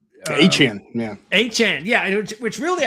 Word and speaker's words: Etienne: Of course, that went down the drain as soon as Travis Etienne, or that's right, he's changed his last name now to pronounce it. Achane, yeah.